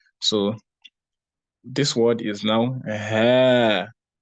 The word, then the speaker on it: هذه: No, it's just ha without the alif, but then the alif is pronounced.